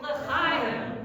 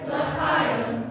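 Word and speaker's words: לחיים: You can't make a toast. Can you imagine Tevye getting up and fiddle on the roof and saying, to life, l'chaim. Or to life, l'chaim. No, to life, l'chaim. Try it. To life, l'chaim. Yes, exactly. So it should be somewhat robust. We need it to carry, but not gross, hacking up anything, and not underdone.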